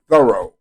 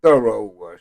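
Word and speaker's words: Thoreau: It's wonderful when you think of people like Edgar Allan Poe, Ralph Waldo Emerson, Henry David, and I heard it pronounced thorough.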